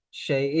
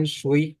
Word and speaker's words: 谁: Shay. Ini u-nya diganti dengan e. Ingat ini u-nya ini e. Ini salah. Otomatisnya ini salah. Ini shay gitu ya. Bukan shui, bukan, tapi shay. Shay.